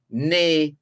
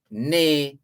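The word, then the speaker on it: née: n-e-e which is pronounced there's an acute accent over the first e so it's pronounced and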